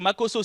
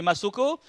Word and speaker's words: Makoso: prononcer mon nom c'est-à-dire au lieu de dire makoso certains m'appelai masoko ah il y a